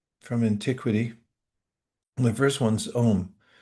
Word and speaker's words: Om: The first one's Om, spelled normally A-U-M, and it gets truncated, as most languages do, when the vowels come together, and we just pronounce it as one syllable, Om.